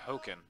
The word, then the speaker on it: Haakon: for color hokum Scott it is H a a Kon token yeah that's how you pronounce that it's how I was told you're supposed to just like Worchester I mean I would sir i would pronounce a hack on that i've been told that it's supposed to be hooking and then looks like probably